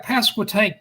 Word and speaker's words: Pasquotank: So you did right, Pasquotank. You pronounced it properly.